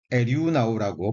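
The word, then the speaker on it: ἐρευνάω: 관찰해서 발견하는 것을 의미합니다 헬라어로는 에류 나오라고 발음이 되는데요 에류 나오라고 발음이 되는데이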